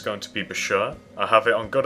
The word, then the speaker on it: Bashur: This time, it's going to be Bashur. I have it on good authority that that's how you pronounce it.